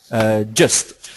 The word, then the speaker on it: Gist: But there's also another one which I would also look at if you talk in that category, which is GIST or GIST, whichever one you want to call it.